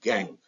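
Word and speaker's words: gangue: OES gang spelling G and G E but pronounced gang impurities associated with or in the form of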